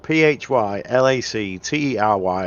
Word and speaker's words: phylactery: got a Google and type for lottery which is spelled p-h-y l-a-c-t-e-r-y and there's a thing that says how do